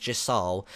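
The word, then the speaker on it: Gysahl: very limited supplies these Jal greens and I'm Hing I'm pronouncing that right people on Twitter told me it was pronounced Jal it's spelled g Ys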